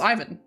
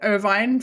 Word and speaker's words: Irvine: It's pronounced Ivan. That's how that name is really pronounced in real life. I pronounced it ovine for like majority of my childhood.